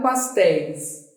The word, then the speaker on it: pastéis: Qual é a sílaba mais forte? É o téis. Última.